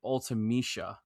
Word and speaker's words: Ultimecia: I think it was like Ultimecia, like that's how I've always pronounced it, Ultimecia, but Yeah. they pronounce it Ultimecia.